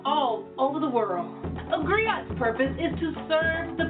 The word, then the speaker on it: griot: share that history with you agree oh it's pronounced griot or English agree on its the West African